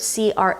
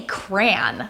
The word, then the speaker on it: crayon: One of them pronounces it crayon, and the other pronounces it almost like crown, which is so funny to me. I say cran, like cranberry.